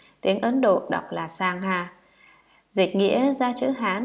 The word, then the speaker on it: Sangha: Tăng, nguyên là tăng già, tiếng Ấn Độ đọc là Sangha.